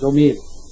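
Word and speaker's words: ضمير: জমির জমির যেটা বলেন সমস্যা নাই, তবে উচ্চারণটা জমিরই হয়, অন্তঃস্থীয় জ দিয়ে জমির।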